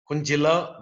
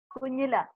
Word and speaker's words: Kunjila: Anyway, now we will go to Kunjila. Am I pronouncing your name properly? Yeah, the J is silent, but it's okay. Okay. How do you pronounce your name? Tell me once again. Kunjila.